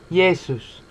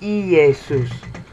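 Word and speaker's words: Ἰησοῦς: the word for Jesus yeses okay some Greek purists will say EE aces okay but that's not how they pronounce his name it that when he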